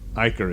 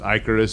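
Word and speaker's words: Ikaris: about it uh uh iker is here i know it's icarus but from the comic book i got it that he's supposed to be pronounced icarus because his his civilian name is ike harris get it uh but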